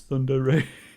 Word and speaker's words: tsundere: sundari sundari Center foreign how do you say it oh God seven seconds Sunday Ray Sunday Ray Sunday Ray Thunder Ray Sunder Ray it's Thunder Ray thanks thank you thank